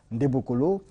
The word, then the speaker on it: Ndembokolo: Entretien avec Maître Ndebokolo, voilà, il faut bien prononcer son nom, Ndebokolo, qui nous parlera aujourd'hui de la purification spirituelle.